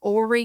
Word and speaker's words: Horry: So, and we're in Horry County. It's spelled Horry. The H is silent. You do not say it. So it's Horry County.